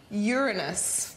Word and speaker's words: Uranus: kids here at the planetarium and that is Uranus but did you know it's actually pronounced Uranus which I also think is pretty funny in